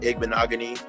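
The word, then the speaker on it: Igbinoghene: have to disagree with you there know what eggman agony that's how you say his name yeah from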